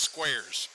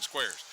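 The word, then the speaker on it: Skweres: It's spelled S K W E R E S and I went over for pronunciations and they told me it was pronounced squares. So as in squares, you know, one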